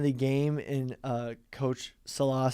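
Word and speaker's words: Saleh: the end of the game and uh coach salah said that he was just sort of trying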